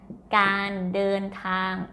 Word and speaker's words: การเดินทาง: this one this word can you read the d sound and this is a sound with the n เดินทาง so all together การเดินทาง okay mid tone I